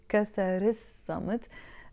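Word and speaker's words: كسر الصمت: Kasar il-samt, pronounced as kasar is-samt.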